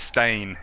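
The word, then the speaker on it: Steyn: now that I I I see that is pronounced stain and of course you know it looks like Stein or something like that but yes and uh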